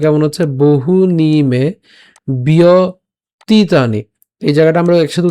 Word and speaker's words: ব্যতীতানি: তো প্রথম থেকে একটু খেয়াল করি উচ্চারণটা কেমন হচ্ছে, বহু নিমে বিয়তীতানি, এই জায়গাটা আমরা একসাথে উচ্চারণ করবো, বিয়তীতানি, বহু নিমে বিয়তীতানি জন্মানি তব